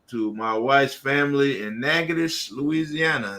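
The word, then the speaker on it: Natchitoches: And then two definitely want to give a shout out to to my wife's family in Nagadish, Louisiana. It's pronounced Nagadish, Louisiana.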